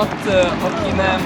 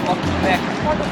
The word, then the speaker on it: akinek: - Não "akinem", "akinek".